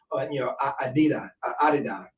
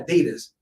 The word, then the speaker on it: Adidas: if you are always thinking about sex, Adida is the correct pronunciation, Mhm. but it's Americanized Yeah. Adidas.